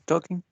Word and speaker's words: talking: No, because we don't pronounce that sound. It's talking. We're talking. Perfect. Yes, exactly. We don't say talking, right? So it's like it doesn't exist, right?